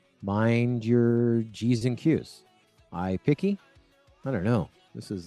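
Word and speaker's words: iPiqqy: So it's spelled I-P-I-Q-Q-Y. I like to say G. Eric Suring says, mind your G's and Q's. iPiggy?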